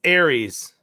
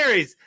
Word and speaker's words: Ares: bing bong all right here's how you pronounce it ready pronouncing it aries it's aries aries like the big aries not ours or or are all right aries big ares hey here we go berries big ares like big harry's you should have said